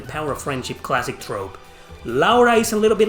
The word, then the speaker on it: Laura: Laura, even though she's pronounced as Laura. The same way it's pronounced in Japanese, it's pronounced in Spanish, Laura.